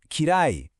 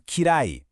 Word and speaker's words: kirai: First, we have suki, pronounced suki, for like. And then we have kirai, or kirai, for dislike.